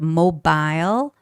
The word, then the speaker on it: mobile: You know, the native speakers would read read this word in two ways. Some people would say mobile phones, some people might say mobile phones. Both are fine. But in both cases again the stress is kept to be put on the first syllable which is mobile.